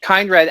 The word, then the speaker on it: Kindred: um i've been calling kind red because i don't wanna mess it up together so kind red act two how off am i from the actual pronunciation i mean that that's an english word so i think uh